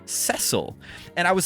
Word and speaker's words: Cecil: I always thought the main character's name was pronounced Cecil and then in like 2006 they remade the game for the DS and they gave the game voice acting and they they they pron pronounced the guy's name cesil and I was like